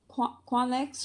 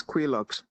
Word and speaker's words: Quilox: is their representative for qualics restaurant and launch LLC are you yeah okay give me man okay 9505 okay um am I pronouncing that name correctly oh it's quilox quilox okay thank you for